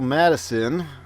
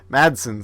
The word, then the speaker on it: Madsen: Michael Madison, another Michael Madison, Madsen, sorry, another Tarantino alumni.